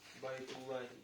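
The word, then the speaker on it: بيت الله: Аль-Ка'бату байтуллахи. Аль-Ка'бату. Байтуллахи. Байтуллахи. Почему байтуллахи? Потому что дамма, да? Байту дамма. Да, поэтому лям грубо произносится. Муфаххам называется. Муфаххам.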